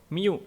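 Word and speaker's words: μ: Jadi kalau kalian menemukan ada huruf U gitu ya, ini bukan U sebenarnya, mikro ini ya, miu gitu. Sebenarnya dibacanya miu ya, mikrogram gitu.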